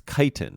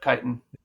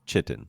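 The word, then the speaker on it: chitin: talking fungus shoot uh oh how do you pronounce it's kiten right c h i t n yes yep kiten kiten okay because I for a long time pronounced it wrong it's chitten yep that sounds more like uh uh sounds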